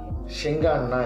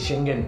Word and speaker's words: Schengen: First வந்து ஷெங்கான்னா என்ன அப்படின்ட்டு வந்து ஆக்சுவலாக நான் கரெக்டாக தான் ப்ரொனவுன்ஸ் பண்ணுறேன்னான்னு தெரியல. ஒரே நிமிஷம் இருக்கு, நான் பார்த்துட்டு வந்துடுறேன். ஸோ வந்து ஷெங்கன் ஷெங்கான் இல்லை ஷெங்கன்.